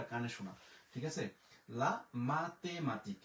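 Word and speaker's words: la mathématique: এরপরে এল আ, লা, এম আ, মা, তে এ, তে, এম আ, মা, তে ই, তি, কিউ ইউ উ, এখানে পাইলাম হচ্ছে ক। লা মাতেমাতিক, লা মাতেমাতিক।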